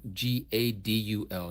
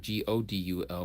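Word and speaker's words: גדול: Yes, and that's how they pronounce it too. Gott, Got in the German tongue. Cree, what does Gadul mean? Gadul, not Godul, but Gadul means great.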